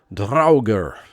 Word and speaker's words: Draugr: Up next is Raise the Draugr, is the way we've decided this is pronounced based on research.